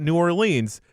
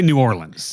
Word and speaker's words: New Orleans: He does speak highly of uh New Orleans, so he'd probably do better if he met my silly criteria.